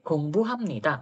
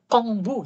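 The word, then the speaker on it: 공부합니다: hati-hati ya kalian ini yang sering membaca salah adalah huruf giok huruf g contohnya Ini gongbu hamnita mesti rata-rata BAC kongbu gitu mesti bunyinya gamnika mesti banyak banget yang bacanya kamnida gitu bacanya G ya gamnika gamnida gongbu hamnika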